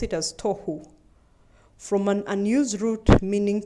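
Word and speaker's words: תֹּהוּ: This one is called tohu. They pronounce it as tohu.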